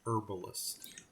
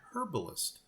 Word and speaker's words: herbalist: Now they've got a cart, and now let's go ahead and drop in the herbalist. Or, if you like to pronounce the H, it is a herbalist.